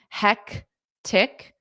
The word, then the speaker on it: hectic: nicely done hectic hectic there's a c in front of the T hectic hectic chaotic chaotic excellent